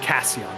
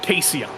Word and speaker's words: Cason: driver by the way his name is pronounced Chad Cason I think I said cion but Cason that's how you say that name so remember that for